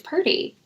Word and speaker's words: Purdy: he would like to know how do you pronounce Purdy obviously the San Fran quarterback oh pert it's Purdy I maybe because he he saw your your